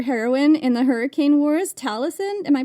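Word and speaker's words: Talasyn: Is this how you describe your heroine in the hurricane wars, Talison? Am I pronouncing that right? Yes, that's correct. Um, and speaking of names, Talisin's name is it comes from the word tala, which is the Filipino word for star.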